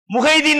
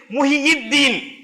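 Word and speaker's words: முஹ்யித்தீன்: முஹைதீன் நம்ம சொல்றோம், அதுக்கு சரியான உச்சரிப்பு வந்து முஹியீத்தீன் அப்படின்னு சொன்னா தீனை உயிர்ப்பித்தவர்.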